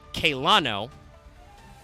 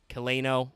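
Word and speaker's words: Celaeno: Harper 83 is kerano from kaylano uh or kaleno or celano if you want to use a soft C like a coward which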